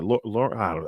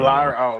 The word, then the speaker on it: Lyra: Yeah, Laura. I always say her name. Lyra.